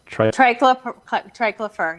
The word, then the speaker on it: triclopyr: But the second one, is it triclopyr? Triclopyr, yeah.